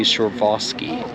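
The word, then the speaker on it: Przewalski: so what I thought was stallions is actually surevaski horses and yes I am pronouncing that right it is spelled with a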